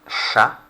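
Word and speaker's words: chat: we've got ansha and shah notice the scene the h is a sound as opposed to cha like in english and of course silent t and now in the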